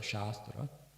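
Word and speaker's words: शास्त्र: The word shastra shastra pronounced properly shastra long a has um means in this context science and sacred knowledge sacred very sacred knowledge science.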